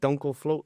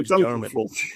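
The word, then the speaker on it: Dunkelflaute: So, I mean, one of the things I have seen a lot on your LinkedIn is it Dunkelfloat? I don't know how to pronounce that. Oh, Dunkelfloat.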